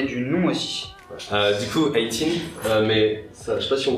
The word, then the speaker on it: Eye t'INE: Du coup, 18, je sais pas si on voit bien, mais ça s'écrit pas du tout comme 18, mais donc ça se prononce comme le 18 en anglais.